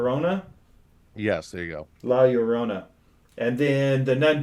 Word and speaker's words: La Llorona: the nun the curse of Matt help me pronounce it uh ah wow your Rona yes there you go la Llorona and then the nun 2 which is coming